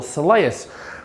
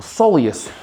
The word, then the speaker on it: soleus: But we need to address your soleus or soleus, same shit, different smell, just different pronunciation.